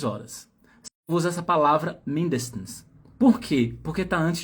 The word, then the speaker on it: mindestens: Mindestens. Então, Servus. Diretamente do sul da Alemanha. Só que não. Ó, essa aqui, ó, a sílaba tônica tá no início, tá?